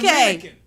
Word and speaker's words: Dominica: It ain't the Dominican. It's Dominica. It's an island called Dominica.